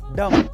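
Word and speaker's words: dumb: And last नंबर 4, अगर किसी word में एम के बाद बी आए तो उसमें बी साइलेंट रहता है, जैसे कि बॉम्ब, बॉम्ब, थंब, डम।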